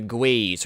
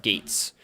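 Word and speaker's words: GuAIZ: the um Jin next the Gaz or sometimes as it's pronounced Gates I actually see very little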